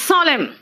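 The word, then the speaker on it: solemn: एन कहां कहां साइलेंट है, देखो तो इट्स सॉलेम, एन है लेकिन मैंने क्या कहा, सॉलेम, ऑटम, हिम, मंत्र को हिम कहते हैं, हिम्न नहीं कहते, कॉलम, एन साइलेंट है ना।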